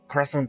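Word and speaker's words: Project X Zone: That is very true, and funny enough, in the sequel, Project Crosszone 2, that's how you should pronounce it, not cross, not like X.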